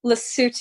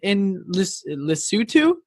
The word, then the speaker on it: Lesotho: Lesotho.